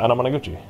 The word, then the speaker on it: Anamanaguchi: Yeah, Anamanaguchi.